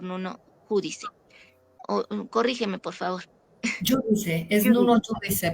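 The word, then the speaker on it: Júdice: Giudice, es Nuno Judice. Giudice porque es un nombre portugués.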